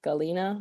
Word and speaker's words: Halyna: how to pronounce because i know it's spelled like h a why something like that but it's supposed to be pronounced galena i saw someone tweet